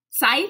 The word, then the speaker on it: scythe: can't say it right that's not how it said scythe yeah there's no c that's more of a